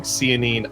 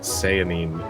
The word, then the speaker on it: Sehanine: all the research for this I have been pronouncing Sayan wrong the entire time that I've been reading it I've been saying cine I've heard all these other things I learned